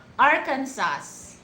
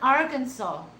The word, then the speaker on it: Arkansas: So what if they heard, like the Arkansas, if you're gonna read it to their spelling, you can read it Arkansas. It's not Arkansas, it's Arkansas.